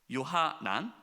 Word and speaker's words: 요하난: 호사야의 아들 아사랴와 가레아의 아들 요하나가, 이 요하나, 요하나가 요하나였나요? 요하난, 발음이 헷갈렸어요.